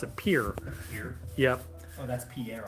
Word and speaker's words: Pierre: The capital is like Pierre, but you're supposed to pronounce it Pierre.